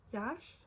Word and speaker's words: Yash: be different and this is the shade Yash Yash that's how you say it this is like